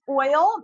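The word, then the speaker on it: Oyl: Okay, it's oil. It's it's called oil, but it's spelled o y l.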